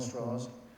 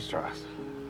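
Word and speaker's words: Strauss: say this is just visually an onslaught Admiral straws I'm interested in your relationship with Dr J I thought it was you met him in 1947 Dr Rob an honor Mr straw it's pronounced straw straw I've told he's there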